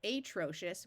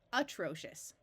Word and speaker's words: atrocious: One thing you need to remember is that most English words that start with an open syllable of A will have the A schwa and take on an sound. So rather than pronouncing this atrocious, we pronounce it atrocious.